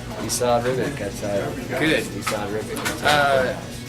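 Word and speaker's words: Esad Ribić: Asad Ribic. Esau Ribic, that's Good.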